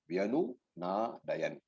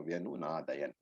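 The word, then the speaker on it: व्यनुनादयन्: Prithvim, Cha Eva, Tumulaha, Vyanu Na Dayan. Again, it's not Dayana, it is Dayan because the Halant is there.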